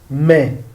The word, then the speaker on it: mais: Mais. I have told you that A and I is E. So this is mais. We don't pronounce the S.